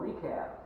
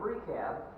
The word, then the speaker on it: Rechab: I looked this up, and that CH there is pronounced like a K, so I'm going to try to remember that. It's called Rechab. He's the son of Rechab, and the descendants of this man Rechab are called Rechabites.